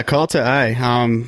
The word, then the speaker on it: Kalta: But you also have another band, which we're here to talk about tonight, Kalta. Am I saying that correctly? Yeah, Kalta.